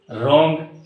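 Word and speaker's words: wrong: Right, rap, रॉन्ग, इस तरह और भी वर्ड्स होंगे जहाँ पर जिस वर्ड में W और R जब भी साथ आते हैं तो W खामोश हो जाता है।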